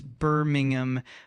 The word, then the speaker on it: Birmingham: Uh, the city name Birmingham is pronounced as Birmingham with the Birmingham.